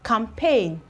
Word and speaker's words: campaign: there is silent we have campaign campaign we still have champagne champagne okay you can see that all these ones here the G are actually silent we have G here but it is not pronounced we have G here it's equally not pronounced and the funny thing